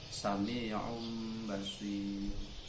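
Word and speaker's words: سَمِيعٌ بَصِيرٌ: Kalau dibaca secara apa adanya, secara mufrad itu sami'un basirun. Tapi dalam bacaan iklab sami'um basir.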